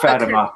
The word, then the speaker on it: Fatima: I say Fatima because It's pronounced Fatima.